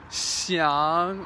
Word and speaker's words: xiang: In Chinese, the X sound is pronounced like a sh, sh. So like xiang or xi or xiong.